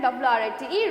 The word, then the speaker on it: write: W-R-I-G-G-L-E, wriggle, and W-R-I-T-E, write.